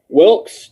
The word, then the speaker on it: Wilkes: Wilkes, Wilkes. Again, for pronunciation, the E is silent.